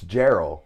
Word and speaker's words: Geral: Max Max Geral Max it's it's Gerald by the way so a lot of people go jell because that's how it should be phonetically phonetically that's how it's spelled Max Geral um yeah